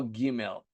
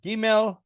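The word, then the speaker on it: גימל: Now, historically, this was a Begedkephet, and there was also a j sound, gimel, which is preserved in Arabic, but not so much in modern Hebrew.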